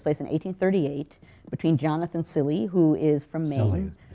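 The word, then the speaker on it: Cilley: Takes place in 1838 between Jonathan Silly, who is from Maine. Silly, No one ever knows how to say it. Yeah. It is actually the Silly Graves duel.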